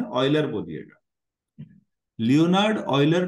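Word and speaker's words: Euler: Leonard ऑयलर जो हैं, इनका नाम बच्चों जब पढ़ा जाएगा तो ऐसे पढ़ा जाएगा प्रोनाउंसिएशन में जैसे ऑयल को पढ़ते हैं आप लोग, ऑयल पढ़ते हैं ना ऑयल, तो ऑयलर बोलेंगे।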